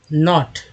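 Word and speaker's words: know: एक वर्ड ले लेते हैं जैसे कि नॉट है ना, या के एन ओ डब्लू क्या होता है, नो बोलते हैं, नो बोलते हैं, के लिखा हुआ के साइलेंट है, तो ओ का उच्चारण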